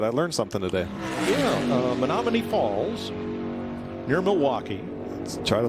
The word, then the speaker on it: Menomonee Falls: learned something today yeah and don't just say Menominee because because even if I pronounce it correctly it's on the other side of the state where Eagan Chase Elliot